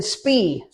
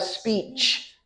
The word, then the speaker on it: speech: have speech speech if you leave this off you're just saying speed you know you want to have speech speech it's not two syllables just one syllable but it has to have the ending sound ch speech speech speech and